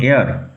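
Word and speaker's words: heir: টু the royal thrown উচ্চারণ লক্ষ্য কর এইচই আইর উচ্চারণ এয়ার দিস চাইল ওয়াজ এয়ার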